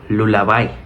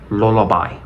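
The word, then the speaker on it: lullaby: significa canción de cuna no se pronuncia lulaby lulaby fíjense como en español es como con esa el español es Lula pero en inglés sería lolobe lolab by lolab by Okay la siguiente palabra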